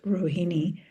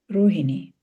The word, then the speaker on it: Rohini: I mean, if I think of my name is, in the West, people pronounce it as Rohini, but in India, it's pronounced Rohini, you know, and there were, wait, Rohini.